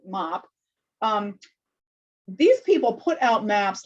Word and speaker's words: MAP: Amazon Project, or MAP, although I think they pronounce it MOP.